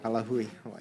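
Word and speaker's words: Ka Lāhui Hawaiʻi: Next, we have Kalahui, Hawaii, in support. Did I pronounce it correct? Kalahui, Hawaii. Kalahui, Hawaii.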